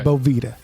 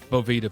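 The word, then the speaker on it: Boveda: Bovita. Bovita packs.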